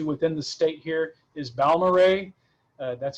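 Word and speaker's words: Balmorhea: i've been to within the state here is baumarei that's how you pronounce that it is way out in west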